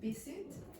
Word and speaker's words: visit: This one is labiodental, so that means this set of teeth are biting this lip.